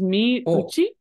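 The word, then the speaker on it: 身内: This is actually pronounced as mi uchi. Mi uchi.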